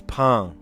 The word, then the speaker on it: pain: Oh, it's not pain. It's pain. Pain, like bread.